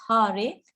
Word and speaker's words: hare: rama rama hari hari the words hare pronounced hari krishna pronounced krishna and